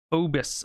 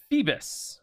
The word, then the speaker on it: Phoebus: Phobos Apollo. H-O-E. No, it's Phoebus, another epithet of Apollo. Okay, so Phoebus Apollo is just Apollo. His prayer went up, and Phoebus Apollo heard him.